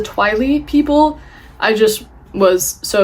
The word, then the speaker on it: Twili: the Twilight realm, and I believe it's pronounced the Twily people.